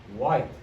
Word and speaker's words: white: then we have white white it's a silent h and last one hole